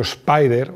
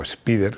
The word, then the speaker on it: Spider: opción los alfa romeo spider o spider según según lo quieras pronunciar del 96 su segunda